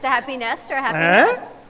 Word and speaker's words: Happy Nest: Happy Nest, N-E-S-T. That's pretty good. It's kind of, if you say it like Freddie says it, it sounds like happiness.